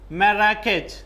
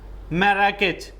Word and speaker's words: Marrakech: Marrakech. Okay? Note down the pronunciation. Marrakech.